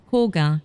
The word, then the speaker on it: Koka: Koka, also commonly pronounced Koga, is a rural city not far from Kyoto.